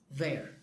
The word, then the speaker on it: they're: And they are is their.